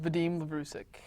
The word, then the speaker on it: Vadim Lavrusik: your name, so I'm going to have you pronounce it yourself. Oh, no worries. Vadim Lavrusik.